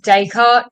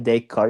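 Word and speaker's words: Descartes: I thought it was daycart. Um I'm not sure if the S is silent here. saying it is. Oh, he's silent. Yeah, the S is silent. Renee a day card.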